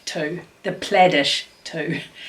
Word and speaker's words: Plaidish: uh this quilt here is called well the play dish too the plaidish too how do you pronounce it p-l-a-i-d plaid ish two quilt uh